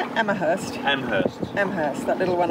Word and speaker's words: Amherst: Amherst.